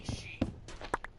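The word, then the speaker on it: Aos Sí: The Ishi is pronounced A-O-S-S-I, but it's pronounced Ishi.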